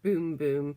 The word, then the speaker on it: Bum Bum: So had a little look on the internet, and so yeah, it says it's pronounced boom boom, and it just says that.